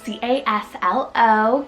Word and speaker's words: Caslo: And it just has that low ending, like the Winslow, Shiloh kind of feel. So Caslo means a raspberry patch, which I thought was so cute.